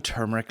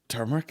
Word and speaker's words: turmeric: People are like, "Oh, we're having a turmeric latte." You know what I mean? Is that how you say that? Turmeric. Yeah, that's how you say it. Not turmeric and all this shit.